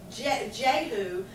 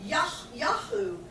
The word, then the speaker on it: Jehu: The name, we call it Jehu, but it's actually pronounced Yahu.